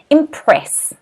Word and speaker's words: impress: is impress impress okay notice the stress here is on the second syllable and the reason we